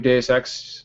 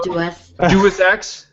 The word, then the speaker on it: Deus Ex: And in the meantime, you can start podcast members practicing pronouncing it as Deus. Okay, so Deus Ex.